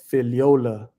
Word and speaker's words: Figliola: the g is silent the g is silent filiola filiola got it got it